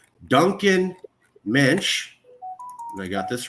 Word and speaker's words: Moench: for people to just think of the yish mench because helps people remember it better helps people pronounce it correctly it's a very hard name